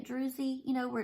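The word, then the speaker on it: druzy: and it's that um Druze it's drusy and that how you say it drusy you know where it's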